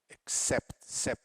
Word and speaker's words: accept: The first syllable is not stressed. The second one is accept.